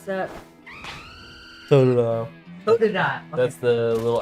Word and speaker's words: Totodile: says, I like Squirtle and, how do you pronounce that? Totodile.